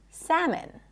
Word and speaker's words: salmon: The L is also not pronounced in the word salmon.